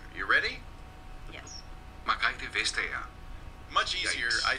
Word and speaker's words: Margrethe: It was Margrethe. Oh, forget it. We're going to call it Marguerite Vestager.